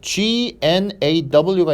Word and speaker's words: gnaw: 그 다음에 자, 여기 보면 GNAW가 있는데요. 여기서 G는 묵음이에요. 묵음. 그리고 NAW에서 이걸 어떻게 하냐면 N하고요. 약간 요렇게. 이게 여러분들 그 발음 기호거든요. gnaw 이렇게 발음합니다.